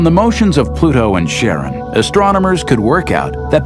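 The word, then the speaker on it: Charon: Christy suggested the name Karen after the Ferman of Pluto's underworld in Greek mythology but preferred to pronounce it Sharon more like his wife's name Charlene from the Motions of Pluto and Sharon astronomers could work out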